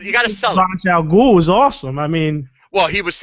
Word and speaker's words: Ra's al Ghul: You're not gonna know from reading the comic how to pronounce it. That is true. But from the original creators, Denny O'Neil and Neil Adams, it is Ra's al Ghul.